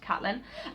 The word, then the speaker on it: Caitlin: I'm pretty sure she likes her name to be pronounced Caitlin.